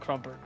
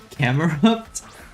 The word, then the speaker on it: Camerupt: Pokemon crumper camerupt camerupt I say crumper I was so confused when I first read it I don't get the pronunciation and it's been since gen 3 I didn't see it as camera up so oh my C